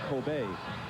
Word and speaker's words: Kobe: And there's a sort of steak that is popular in Japan, Coobe steak. Coobe beef. And eventually after they took the name from that, K O B E, people started pronouncing it Kobe. And that's what stuck.